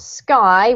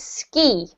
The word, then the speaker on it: ski: greater greater yes and the last one not sky which is sky this is ski ski yeah as in the